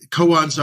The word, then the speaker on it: koan: think of something called cones is that the right pronunciation of it yeah yeah now koans are a certain branch